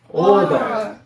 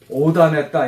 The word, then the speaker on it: order: 원래는 오다 이렇게 하면 안 되고 R 발음이 있으니까 정확히는 더 이런 느낌 r이 천장이 혀가 입천장에 붙을까 말까 하는 거예요.